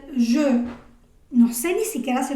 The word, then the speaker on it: je: Por ejemplo, yo no voy a pronunciar la primera persona del singular como je, ¿no? Je sería como la forma en la que yo pronunciaría esto como hablante del español, que lo lee literalmente, ¿no? Je. Pero resulta que esta E de la primera persona del singular se dice je.